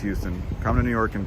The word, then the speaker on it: Houston: People arguing about the Houston thing again. Yeah, all right, fine. It's pronounced Houston.